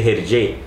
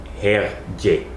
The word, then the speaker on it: Hergé: Desde 1924, Georges Remy comienza a firmar sus ilustraciones con el nombre de Hergé, que forma con la pronunciación de sus iniciales RG, Remy Georges Hergé.